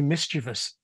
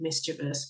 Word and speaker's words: mischievous: There's a lot of people who are insensed by it and say it's got to be mischievous and that eye shouldn't be there, etc.